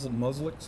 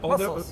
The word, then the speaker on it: mussels: And they get, muslix. How do you say that? Muslix? Musks. Yeah, the little shelly things. Mussels.